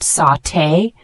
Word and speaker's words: sauté: hot oil shallow fry the word sauté spelled s u t it's a verb pronounced sauté this means to cook